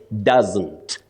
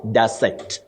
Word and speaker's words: doesn't: You say doesn't, not doesn't. You also say hasn't, not hasn't, wasn't, not wasn't, and all that.